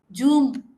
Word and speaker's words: Zoom: Telugu speakers you know what many of the Telugu speakers say zoom zoom meeting am I right or wrong no Zoom meeting it is zoom meeting why do you think many telugus have problem pronouncing this z sound there's a zero marks I will go to the zoo park okay uh Zoom meeting why is it happening why is it the and not oh yeah it is not